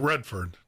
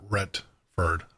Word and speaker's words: Retford: Not Redford, not Robert Redford, but Retford, R-E-T-F-O-R-D.